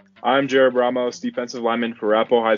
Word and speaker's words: Ramos: Ramos. So we've been saying it wrong this whole time, huh? Nah. People either say Ramos or Ramos. It's either or.